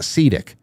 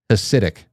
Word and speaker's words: Hasidic: It's Hasidic, Sidic, not Sedic. I hear Hasidic. Whenever I say Hasidic, somebody says, what do you want, acidic? Alkaline? I don't give a shit. I asked the internet, what is the phonetic pronunciation? And it said Hasidic.